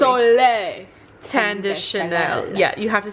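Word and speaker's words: Soleil Tan de Chanel: Soleil Tende Chanel.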